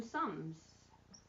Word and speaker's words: sommes: Hopefully you said nous sommes, which we don't pronounce the S on the end.